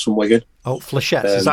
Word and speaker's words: Flechettes: I'm the lead singer of Flechettes from Wigan. Oh, Flechettes. Is that how you say it? I've been calling it say it again. How'd you say it? Flechettes. Flechettes.